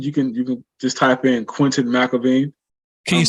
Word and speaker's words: Quentin McElveen: You can just type in Quentin McElveen. Can you spell that? Active on there. Sure. QUENTIN. So it's Quentin. And McElveen is MCELV as in Victor, EEN. So Quentin McElveen.